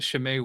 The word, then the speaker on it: Chimay: to introduce you to Shem white yeah yeah and I didn't know it was I pronouncing it Chim I didn't know the CH was the Sha sound we we can get